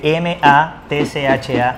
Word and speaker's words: matcha: Y para las personas que no están familiarizadas con esto, se escribe M-A-T-C-H-A, matcha.